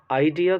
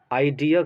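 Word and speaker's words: idea: आइडिया का आप pronunciation ढंग से समझें। मैंने क्या बोला? आइडिया कह रहा हूँ मैं, आइडिया नहीं।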